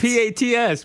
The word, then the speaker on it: Pats: and dumber the PS you call them the Pates well do it if you're going say it say it right you can't be B it's p a TS Pats it's Pats it's spelled the Pats that's the Pates how